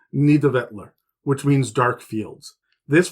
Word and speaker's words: Nidavellir: stops being confusing, is Nidavellir, which it took me many YouTube videos to be able to pronounce it. It's not spelt like that, but it is Nidavellir, which means dark fields.